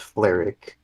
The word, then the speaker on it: Fleric: It looks like his name is going to be pronounced Fleric. It's Fleric? Okay, that's what it is. I don't see an I in there, so I wasn't sure how to...